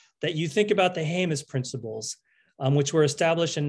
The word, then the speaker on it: Jemez: my two colleagues that you think about the jemez principles which were established in 1996 by the environmental justice community and jemez is spelled j-e-m-e-z and that is to allow the